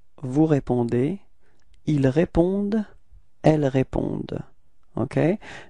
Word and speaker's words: vous répondez: Okay, keep in mind that combination between E and Z at the end of the verb is E, is pronounced like E. Okay, so you get this vous répondez.